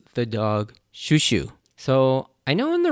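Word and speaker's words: Chouchou: the English dub but in Japanese it's it's pronounced shushu like sh Shu sh Shu and that's how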